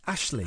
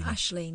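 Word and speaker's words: Aisling: Ashling. Ashling.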